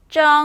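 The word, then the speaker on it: 蒸: 그래서 그 찌다는 쩡 하시면 됩니다. 찌다는 쩡, 찌다는 쩡, 찌다는 쩡. 여러분들만 가실게요. 찌다는 그렇죠. 그렇게 발음을 해주시면 됩니다. 자, 근데 혀를 말아서 올려주셔야 돼요. 쩡 하시면 됩니다.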